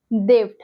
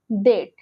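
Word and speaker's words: debt: এই যে ধার নেওয়া এটাকে আমরা ইংলিশে বলি দেড বাট এখানে বিটাকে সরিয়ে দিতে হবে প্রোনাউন্স করতে হবে ডেট ডেট চিরনি চিরনিকে আমরা ইংলিশে বলি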